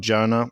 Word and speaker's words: Janah: think to say is when we talk about Janna it's if you think back in if you have ever played like video games you used this word mana so that's a similar pronunciation mana janna so and we don't